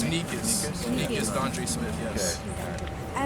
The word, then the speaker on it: Nicous: And they Pronounced introduced me. Nicous? It's Nicous.